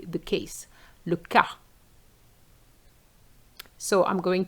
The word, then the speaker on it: cas: And then we have the word le cas, which is the case. The S is silent. If you say casse, it does exist, and it comes from the verb to break, which means the verb to break, which is casser.